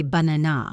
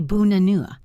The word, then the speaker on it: banana: We don't say banana, we say bunanua.